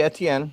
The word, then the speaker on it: Etienne: So yeah, most people they pronounce it like the letters ATN.